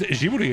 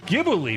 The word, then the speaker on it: Ghibli: Ghibli is Ghibli in Japanese, but from an Italian word pronounced with a solid G.